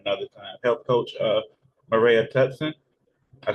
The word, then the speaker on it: Maraea Tutson: another time and another time help coach uh Mara tutson I said it right this time yes got